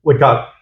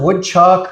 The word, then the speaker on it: Woodcock: All my life I've grown up and had people mispronounce it because they don't want to say cock. Oh. Yeah. Mr. Woodchuck, Mr. Woodclock. Oh, man. And people just make up the last part.